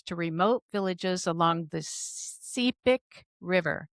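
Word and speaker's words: Sepik: remote villages along the Cipic River. Am I saying it right? Cepic. That's it.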